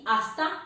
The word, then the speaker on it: hasta: Naturally ला एच दे स्पेनियोल हमेशा silent होगा, इसलिए इसकी आवाज होगी आ ऐसे ते आ से ही hasta pronto।